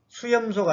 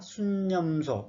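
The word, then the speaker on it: 숫염소: 다시 말하면 수양 그러지 말고 순양, 아까 수소는 숫소 그렇게 말하는 사람이 있을지라도 그냥 수소라고 통일을 하자고 했죠. 수염소가 아니라 순염소 이렇게 읽으라는 겁니다.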